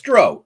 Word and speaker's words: drow: It's drow. O w like row the boat, right?